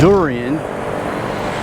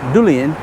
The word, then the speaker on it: durian: Now it's durian, but if I had to get my Thai wife to pronounce it, she would say durian. So you'll hear Thai people pronounce their R's with L.